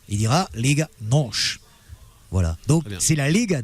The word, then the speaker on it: NOS: Le S ne se prononce pas comme en espagnol ou comme en français, mais les Portugais prononcent che.